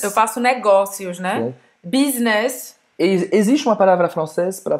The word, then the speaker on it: business: Você vai ouvir bastante a palavra business. Business. Hein? É pronunciado em francês. Business, business. Business, então esse U tem som de I no francês, tá?